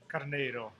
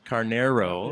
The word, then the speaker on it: Carneiro: You can say it like a regular gringo, like Carneiro. Carneiro. Yeah, that's the easier way.